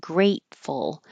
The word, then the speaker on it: grateful: before Thanksgiving we have grateful so you won't hear that t because the tongue will go to the T position great and just stop